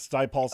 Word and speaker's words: Sty Pulse: So it's Sty Pulse, like High Pulse.